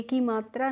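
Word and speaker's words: come: सी ओ को हम को नहीं पढ़ते हैं बच्चों क पढ़ते हैं और एम को हम म पढ़ते हैं। और आपको ध्यान रखना है जब भी किसी स्पेलिंग में लास्ट में इ आती है तो उसे हमें नहीं पढ़ना होता है। यानी कि वो साइलेंट रहती है। उससे हमें ए की मात्रा नहीं लगानी होती है। तो इसे हमें को में नहीं पढ़ना होता है। कम पढ़ते हैं।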